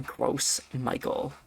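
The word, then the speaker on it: Gros Michel: It's a a gross Michael. That's how you pronounce that, by the way.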